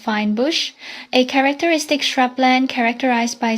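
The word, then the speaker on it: fynbos: This area is also known as Finnbos pronounced fine bush a characteristic shrubland characterized by small hard drought and fire resistant shrubs with pota being one of the dominant components.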